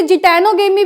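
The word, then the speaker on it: geitonogamy: तो इसे जिटैनोगेमी भी कहते हैं, नीटोगेमी भी कहते हैं। इसमें जी साइलेंट होता है, मैं लिख के बता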